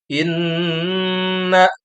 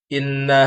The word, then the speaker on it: inna: hukum bacaan, diantaranya tadi ada gunnah pada ayat yang pertama, inna, jadi ditahan 2 harakat, jadi bacanya jangan inna hadzal Qur'an, kurang tepat, tapi yang baik atau sesuai dengan kaidah tajwid, membaca gunnah itu dengan ditahan dulu 2 harakat.